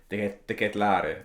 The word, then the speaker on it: De Ketelaere: It's even been so long I've learned how to pronounce his name. I can stop calling him CDK and can call him De Ketelaere.